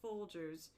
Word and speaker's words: Folgers: Yeah, because you put a hard G in it instead of a soft G, but it's Folgers.